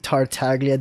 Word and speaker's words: Tartaglia: be had so there you guys have it tart taglia that was that was beautiful i'm like he's